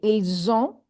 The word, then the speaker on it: ils ont: After S vowel. Ils ont. It becomes Z.